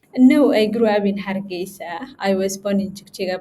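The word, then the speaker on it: Hargeisa: So tell me about growing up in please pronounce the name of your town again. Aa Hargesa.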